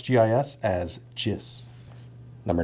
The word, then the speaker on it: GIS: Number 10, get to pronounce GIS as GIS.